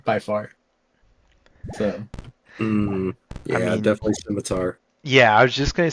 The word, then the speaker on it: scimitar: the cooler Weapon by far so yeah definitely simitar yeah I was just gonna say Jimmy skimy he probably knows a pronunciation of that so like it's Scimitar but